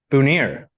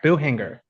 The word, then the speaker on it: Buhinger: Buhinger. Buhner. Buhinger. Buhinger. Like there's no C.